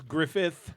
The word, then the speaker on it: Griffith: anymore it probably isn't it's Griffith with a th it's not Griffin I've never said it right once and um it's nostalgic